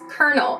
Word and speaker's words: colonel: The discrepancy between the spelling and the pronunciation of this word is absurd.